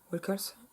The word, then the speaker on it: Wilkes: vraie machine à écrire cassée à laquelle qu'Annie Wickle a acheté pour Paul Sheldon, un Le Retour de Misery pour Annie Wilkes. Wilkes, j'ai mal prononcé.